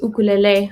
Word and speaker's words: ukulele: is based off of hawaiian pronunciation so they pronounce their use rather than you it's like ooh so it's ukulele same with i think